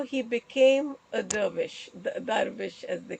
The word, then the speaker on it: dervish: He's a Sufi sage, and how he became a dervish, darvish as they call it. a Uh, diva, no, oh, darvish. a dervish. Yes, Oh, I know. lovely. The way they pronounce it is darvish.